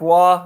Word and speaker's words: Roy: they blew that uh pronounced patrick wah okay so not roy's wall which i guess would make sense because he's probably canadian so we'll start calling nick